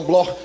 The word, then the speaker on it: Bloch: Se escreve Bloch, mas se pronuncia no alemão Bloch, judeus alemães.